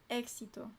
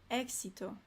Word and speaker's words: éxito: Éxito. So you do pronounce the X. Success. Cool. Good word. What's to succeed? Para tener éxito.